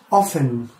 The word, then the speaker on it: often: okay that's number four often often T is silent how often do you